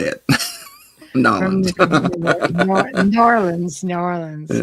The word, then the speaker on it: New Orleans: From Nolans. New Orleans, New Orleans. Yeah. Yeah, Norlands or Nolans or however I it is you know.